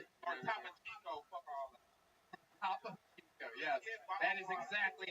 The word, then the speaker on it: Topo Chico: Topo Chico, yes. That is exactly how it's pronounced.